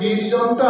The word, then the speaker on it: বীর্যং: করবাবহৈ সহ বীর্যং করবাবহৈ ওই যে বীর্যমটা আছে ওটা ইয় উচ্চারণ হয় বীর্যম নয় বীর্যম বীর্যম বীর্যম যেখানে সংস্কৃতে শ্লোক যখন বলা হয় তখন ইয়টা ইয়া হয়ে যায় ইয়া আবার আমি করছি